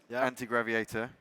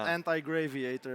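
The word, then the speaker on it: Antigraviator: So, the game anti-graviator, I think I'm pronouncing that right. You are right. Yes. Anti-graviator. It's not anti-graviator. You don't have anything against.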